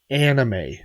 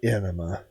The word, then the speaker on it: anime: and i'm like buddy that's pronounced anime not enema and he goes oh